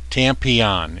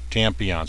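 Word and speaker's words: Tmmpon: uh tampon tampon and it is spelled t m m p o n tampon is how he pronounces it tampon some of you may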